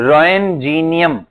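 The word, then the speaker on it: Roentgenium: क्या बोलेंगे इसको, रोएनजीनियम, क्या बोलते हैं, हाँ रोएनजीनियम, टी साइलेंट है इसके अंदर, रोएनजीनियम, रोएनजीनियम, रोएनजीनियम, ओके।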